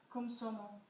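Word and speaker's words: Komsomol: Julie, could you pronounce? Komsomo? Komsomo.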